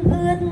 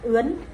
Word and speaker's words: ướt: Ngày đầu tiên đi học, em mắt ướt nhạt nhòa. Chữ ướt cũng vậy, nếu mà mình phát âm không chuẩn nó sẽ thành mắt ướn.